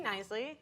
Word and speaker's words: Knisley: My name is Lucy Knisley. It's got a silent K. It's weird, like knife or knickerbocker. That's how it's pronounced.